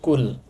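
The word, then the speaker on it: 꿀: রিউলের শেষ বর্ণ হচ্ছে ল। শব্দটার উচ্চারণ হবে কুল।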